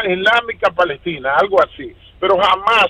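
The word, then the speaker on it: حماس: Pero jamás, pronunciado en árabe, significa entusiasmo.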